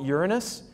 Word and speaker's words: Uranus: giggle at you um most astronomers call it Uranus which is how I pronounce it but that kind of